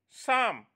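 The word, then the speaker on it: psalm: forgot to sing her sam my dear students p is silent over here sam means song not dear students let's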